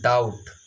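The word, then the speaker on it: doubt: देखिए इसको क्या पढ़ा जाता है, डाउट। डाउट यानी कि डाउट नहीं पढ़ा जाता है, यानी कि बी जो होता है वो साइलेंट होता है।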